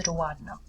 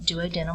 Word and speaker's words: duodenum: referred to as the duodenum. It looks like duodenum when you spell it out, but it's pronounced duodenum.